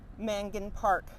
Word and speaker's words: Mangan Park: do you spell that i'll say it again mangan park that's m-a-n-g-a-n mangan park which is just south of